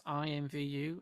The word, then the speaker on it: IMVU: say imbu well if they say imbu then we're all saying it wrong but who cares it's Community Driven we say it's IMVU and that's how it shall be for hence for forever